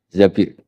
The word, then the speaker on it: Zabir: Di hadis ini bukan bacanya bukan Zubair tapi Zabir.